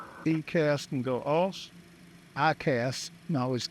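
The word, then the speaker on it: EICAS: windshare heat 105 just while I grab the paperwork pushes back real ecast and go else I cast it ecast but it's pronounced ICAST uh APU master can go off and standby power can go off.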